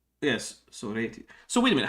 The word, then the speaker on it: Sorites: Yes, Sorites. So wait a minute. How come the accent is on the second syllable in Greek, but on the first syllable in English?